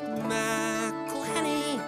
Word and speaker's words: McElhenney: It's McElhenney, McElhenney. What ways to massacre and mispronounce it, there are many.